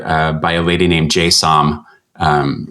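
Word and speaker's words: Jay Som: to a record uh by a lady named jsom um it's j-j-a-y and last name is spelled s-o-m and it's you know it's just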